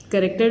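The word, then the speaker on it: character: करेक्टर में H silent है तो इसमें एच की साउंड नहीं आएगी।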